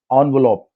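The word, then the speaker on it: envelope: Nuclear एनवलप, वो जो नहीं एनवलप लिफाफा होता है, इससे French word like I keep saying, इसका राइट प्रोनाउंसिएशन एनवलप, बट हम लोग एनवलप बोलते थे।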